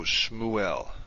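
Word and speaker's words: שְׁמוּאֵל: the end of a closed syllable you don't pronounce it let's take a look at two examples the first one is shmu el which you may be able to guess means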